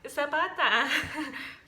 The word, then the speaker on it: Zapata: So, like, I'll use my last name, Zapata. So, I spy someone whose last name rhymes with bata. Zapata.